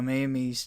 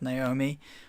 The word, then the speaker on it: Mayumi: It's 3 syllables, but for some reason they'd always assume I was called Naomi or Naomi, you know, like with an N, and it's, yeah.